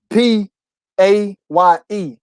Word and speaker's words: PAYE: I'm gonna be PA, but I'm gonna spell it PAYE. So it's kind Pay. of about the same.